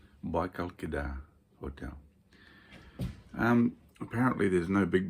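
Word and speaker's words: Кедр: And here I am on the shores of Lake Baikal, staying at the Baikal Cedar Hotel, although in Russia they pronounce it Kedar. Baikal Kedar Hotel.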